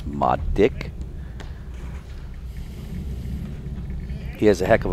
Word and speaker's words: Marek: All our members call him Marek, M-A-R-E-K, and I keep reminding them it's Madik.